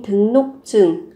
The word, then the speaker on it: 등록증: Các bạn có 외국인 등록증. Ở đây phát âm là 등록증, R mới đổi thành N. Và cái phụ âm chờ này gấp đôi lên, 등록증 là thẻ đăng ký 외국인, người nước ngoài.